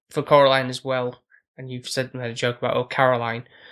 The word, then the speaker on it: Coraline: And obviously the fact of how for Coraline as well, and you've made a joke about Caroline, because the other adults keep getting her name wrong, calling her Caroline.